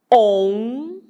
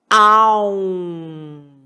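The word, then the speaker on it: ॐ: Pronúncia. OM ou AUM.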